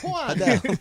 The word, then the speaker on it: Juan: Juan. H-U-A-N. Yeah. That's with a J. The J sounds like an H anyway.